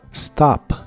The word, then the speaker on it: stop: de inglés es stop empieza con el sonido de la s s y la o de esta palabra se pronuncia como una a profunda como si la produjera desde la garg o desde el pecho stop stop en el